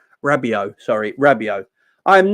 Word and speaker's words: Rabiot: Do you know how do you pronounce his name? Rabiot.